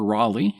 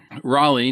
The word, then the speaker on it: Raleigh: They just allowed it to happen, So for Roanoke, the primary backers were Sir Walter Raleigh, which is Raleigh, and it's pronounced Raleigh, not Raleigh.